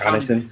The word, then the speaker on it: Connaughton: He can provide the shooting along with, you have Pat how you pronounce his last name? Pat Pat Connaughton.